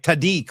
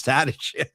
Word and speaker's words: Tadich: He was calling it like Tadik or something like that. Did you hear that? Yeah, it was weird. He didn't know how to pronounce Tadich.